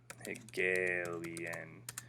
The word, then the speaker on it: Hegelian: Hegelian dialectic. Okay, that's how you say it.